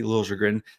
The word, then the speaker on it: Liljegren: Timothy Liljegren, I guess we're now emphasizing that middle syllable, but Timothy Liljegren is new, right?